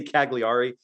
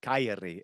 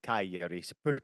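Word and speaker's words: Cagliari: because of that g Keri is the how you pronounce it Keri pretend like the G is a y kyi and you would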